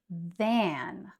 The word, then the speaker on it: than: It's taking a lot more time than I expected, so I should really focus now. And here we have the word than, which is different from then, right? We have then than.